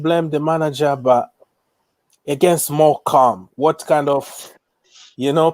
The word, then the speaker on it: Morecambe: a few days ago i was like more kambi or something but somebody told me it's like more more calm more calm that is the way to pronounce i'm like what if